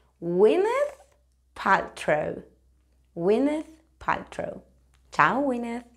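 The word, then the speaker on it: Gwyneth Paltrow: aquí tiene su nombre Cómo se pronuncia esto winet winet Bueno pues es muchísimo más fácil de lo que te piensas se dice winth ptro winth ptro chao winth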